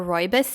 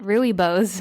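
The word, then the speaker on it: rooibos: sales assistant was like would you like to try our royos tea and I was like royos I didn't know that that's how you were supposed to say it I've been saying it Ry bows the entire time so maybe I just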